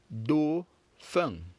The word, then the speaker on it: dauphin: We have feng in a word such as do, feng. Do, feng. Again, do, feng.